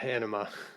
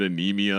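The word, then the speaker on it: Ænima: We looked it up because it was like I think you were pronouncing it anemia and I was pronouncing it like enema. Like it's anima, I think, is what we came up with based on a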